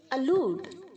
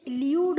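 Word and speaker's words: elude: अलूड, अलूडेड, अलूडेड. बहुत सारे बच्चे इसे इल्यूड बोलते हैं. यू प्रोनाउंस नहीं होगा बच्चों. ई एल के आगे जो यू है वो डबल ओ प्रोनाउंस होगा. अलूड. ओके?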